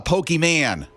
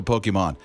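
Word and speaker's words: Pokémon: 13 is like dad it's not a pokey man it's a pokemon char char charger that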